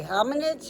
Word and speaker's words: hominids: And uh you could think of ham h o m and then in like inside and then ids like somebody's ids.